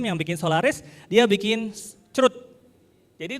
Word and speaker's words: chroot: Oke, tahun 79 Bill Joy, pendiri Sun Microsystem yang bikin Solaris, dia bikin Chroot. Jadi itu bacanya bukan C-H-R-O-O-T ya. Bacanya literally Chroot, bukan C-R-U-D, Chroot pakai Chroot. Itu.